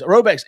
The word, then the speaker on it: Rhoback: But anyways, Roback's everyday shorts or their Delta Performance pants are the perfect pairing as well.